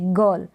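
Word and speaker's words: girl: गर्ल, इस तरीके से, गर्ल। गर्ल, आर का साउंड ना निकालें, गर्ल।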